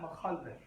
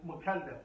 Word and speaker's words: mukallaf: He said, like the young girl who was, she's not mukhallaf. She's not mukallaf, pardon me, that was pronunciation.